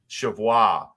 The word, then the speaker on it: Cheviot: Chevois is how it's supposed to be pronounced.